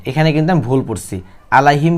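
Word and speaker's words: عليهم: কিন্তু আমি ভুল পড়ছি আলাইহিম কি হবে আলাইহিম আইন শব্দটি শক্ত করে উচ্চারণ করতে হবে আবার বলেন আলাইহিম আবারো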